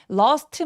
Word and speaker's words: lost: 그래서 lost my라고 해도 되기는 하는데 lost my라고 T 발음 안 해도 이상하지 않는다.